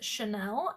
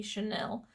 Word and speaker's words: Chanel: in your titles okay the next word is Chanel and I think I'm pronouncing that correctly it might be Chanel but it's spelled CH e and I ll e and this